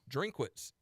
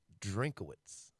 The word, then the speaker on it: Drinkwitz: How do you pronounce his last name? Drinkwitz. Drinkwitz. Drinkowitz. And there's no Kua. I think it's just Drinkwitz. Drinkwitz.